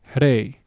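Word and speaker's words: rey: for king, which is hey. Okay, notice the sound that I make when I pronounce that word. Okay, it's a very quick flicker, if you will.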